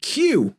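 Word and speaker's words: queue: nees day and and Q which you know there's five letters in the the word q q u e u e we just pronounced one of them Q at the beginning so yeah silent letters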